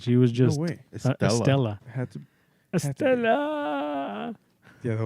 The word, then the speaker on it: Estella: Estella. Had to. Estella. Yeah, that was a weird name. Estella. It's like, how did they come up with Estella? It rhymes with Cruella.